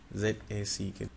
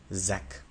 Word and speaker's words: Zack: then you say J when you have to pronounce sound Zed you do not block any air you just let it out like Zed J Zed